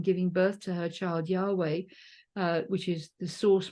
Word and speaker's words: Yahweh: gender is the tetragrammaton which is y v pronounced Yahweh that's usually T talked of as being masculine